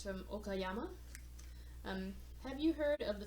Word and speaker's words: Okayama: Okayama. Wow, I'm doing really bad with pronouncing prefectures.